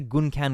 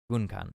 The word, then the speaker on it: Gunkan: I guess the Gunkan would be Japanese pronunciation. Gunkan, something like that.